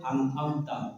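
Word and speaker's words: أنعمت: Kan ada an'amta, bodoh, an'am, salah. An'amta. Siro 1 2 3. Siratal ladzina an'amta 'alaihim. Ya, hati-hati pengucapan an'amta. Satu alif atau hamzah, satunya ain. Itu beda ya.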